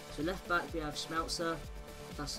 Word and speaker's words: Schmelzer: of the week so left back we have schmelzer that's how you pronounce it again sorry for um 77 pace